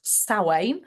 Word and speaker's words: Samhain: So the Celts started actually with what they pronounce as Samhain, spelt Samhain, which we think of as Halloween, which is down in the bottom right corner.